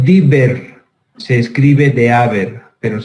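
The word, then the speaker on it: Deaver: Se conoce con el nombre de, se dice Dieber, se escribe de Haber, pero se dice Dieber.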